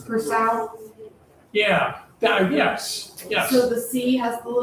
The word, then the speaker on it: Curaçao: Curaçao, I think it's the Curaçao? Yeah. That uh yes. Yes. So, the C has a little little Yeah, that little mark down there? Yeah, that's what pronounces it as an S.